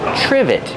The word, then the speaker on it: trivet: Trivet. It starts with tr. So we make the ch sound like chicken together with the r. ch. Trivet.